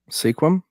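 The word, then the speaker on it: Sequim: I want you to I want you to pronounce that City not Seattle but the other one the vacation home in squim squim squim well it's just like Worcester out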